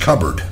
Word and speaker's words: cupboard: Today's Pat Buss Vocabulary Moment is cupboard, pronounced cupboard.